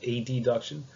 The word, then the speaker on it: adduction: known as abduction and adduction. This is borrowed from Latin, where AB means away and AD means toward. So there's no confusion. I'll make sure that I pronounce them as abduction, adduction.